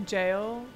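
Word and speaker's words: gaol: to roll oh Jeff that is the British English spelling for jail so I should know that that's pronounced as jail I'm so embarrassed please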